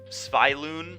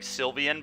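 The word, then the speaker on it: Svyelun: Sviloon. I always have been saying Sylvian, but that's not even remotely close to how to pronounce this, of Sea and Sky.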